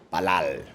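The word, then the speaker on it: פלל: Orar en hebreo se pronuncia palal y significa además oro.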